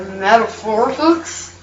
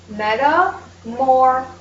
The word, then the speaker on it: metamorphic: Is it metaphorics? Actually, it's pronounced metamorphic.